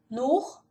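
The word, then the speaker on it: Nord: Eu só vou falar, pronunciar mais uma vez. Nur, West, Sur, Ost, Ost, Ost.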